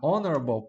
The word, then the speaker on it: honorable: Honorable peace. Honorable peace. An hour. Nessas palavrinhas aqui você não pronuncia a letra H.